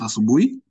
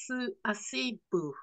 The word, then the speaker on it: asubuhi: you are getting it wrong a bit because you are not pronouncing the words as they are. Subu. Oh, Sue. Okay, sorry. I can't read properly, you know. Asubu. Hi.